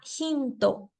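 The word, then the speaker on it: ヒント: y do respectivamente ejemplo yo tengo la palabra hinto que viene del inglés hint significa pista en esta palabra la t está solita pero en el japonés eso no se puede dejar así no existe un solo carácter de la t entonces lo sustituimos por el sonido de to Aunque suene muy diferente hint de hinto de todas formas lo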